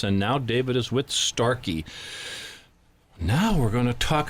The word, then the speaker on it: Starkey: Is that the right way to say it? That's the right way to say it. Is there a longer title, or is that it? Starkey.